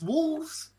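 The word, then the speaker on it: Wolfs: It's Wolves, but it's spelled W O L Fs and it's starring um it's starring uh Brad Pitt and uh George Clooney.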